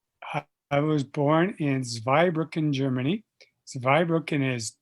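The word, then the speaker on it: Zweibrücken: grew up in i i was born in zveybrook in germany survived brooklyn has two bridges it's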